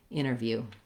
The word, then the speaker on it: interview: So in interview, the stress is on that first syllable in, so we want that to be long. And then we have the unstressed syllable in interview.